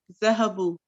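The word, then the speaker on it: ذهبوا: uh they went is zahabu uh note that there is an alif at the end of the word which is not pronounced yeah so this alif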